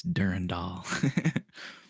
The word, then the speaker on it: Durandal: Yeah, you got to knock that. It's Durandall.